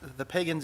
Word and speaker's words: Pagan: Rick, my question is, so the Pagans, I don't know if I'm pronouncing that right. How do they pronounce the last name? Madam Chair, Commissioner Nelson, I believe it's Pagan.